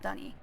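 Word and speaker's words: D'ni: Oh, by the way, the people of this place are called Dunny. I will usually pronounce it Dunny, but they pronounce it Dunny, so...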